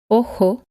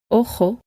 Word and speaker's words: ojo: The letter J is always pronounced Hija, ojo, jugo. In many areas of Spain, but especially in the center and in the north, the letter J is pronounced much stronger and sounds like this. Hija, ojo, jugo.